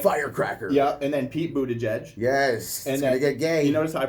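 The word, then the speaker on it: Buttigieg: number three right firecracker yeah and then Pete Buddha judge yes yeah you notice I pronounced that right Kristen Gillibrand all right Michael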